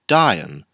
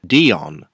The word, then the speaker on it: Dion: know a lot of reviewers pronounced the name dion but in the show at least you can quite clearly hear orion say dying each to their own i guess this figure represents diane